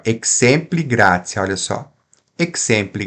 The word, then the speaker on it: exempli: Exempli gratia não tem acento. Então vai ser o xe, xe, xe, que é uma paroxítona. Exempli, exempli, tá?